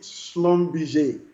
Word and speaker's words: Schlumberger: for french all right the pronunciation is actually slum bj all okay so uh